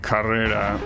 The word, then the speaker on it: Carrera: They pronounce it more similar to Spanish, like Carrera, like how it actually is pronounced.